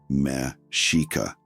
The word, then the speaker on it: Mexica: They were the Mexica people, pronounced Mexica, and that's where the word Mexico actually comes from.